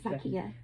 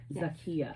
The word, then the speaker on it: Zakia: Am I pronouncing that correctly? Yes, Zakia. Zakia.